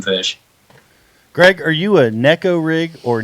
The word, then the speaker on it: Neko rig: I would say Nico, but I guess it's Neko. I'm going Nico. Yeah, It's like Rapala. Yeah, tournament. I can't make myself consistently say Neko rig, but that is the proper way to say it. There's no question that's the proper way to say it. But it rolls off the tongue easier to say Nico rig.